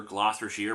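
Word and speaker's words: Gloucestershire: here on this one how was I supposed to get the real name out of its spelling what the hell happened to the you in the middle of the word they bought a vowel and didn't know what to do with it and where do you get the S sound for the C in this case however my ramblings about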